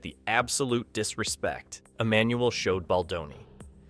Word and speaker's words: Baldoni: And let's not forget the absolute disrespect Emmanuel showed Baldoni. This man couldn't even be bothered to say his name correctly, mocking him by calling him baloney like a middle school bully.